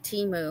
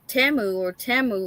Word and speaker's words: Temu: but when they started doing the commercial for Timu, they were like talking about Temu or something like that, and I was like, what? So I've been saying it wrong this whole time, and now I'm learning